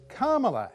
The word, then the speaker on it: Kamala: i approve this message so it's carmela harris like instant karma or karma chameleon harris but with a la on the end equal emphasis on all three syllables uh whereas australians like